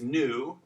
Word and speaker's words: nu: All right, after mu is nu. Nu is difficult because the lowercase looks like a V. Kids oftentimes get this one confused. Okay, but this is the N sound in Greek.